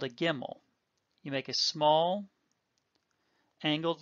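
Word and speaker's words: גימל: Gimel makes the g sound, and in the case of gimel, we will pronounce a gimel with or without the dagesh the same way, g as in God.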